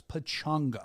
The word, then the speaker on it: Pachanga: You read it as Pachanga. That's how it's spelled, Pachanga, but it's not. It's Pachanga.